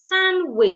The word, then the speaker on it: sandwich: Sandwich is not sandwich. The D is silent.